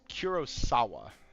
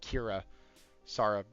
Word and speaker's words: Kurosawa: He said it's Kurosawa, not uh Kira Sara.